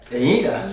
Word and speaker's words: Uinta: So this is, how do you pronounce that? Uinta.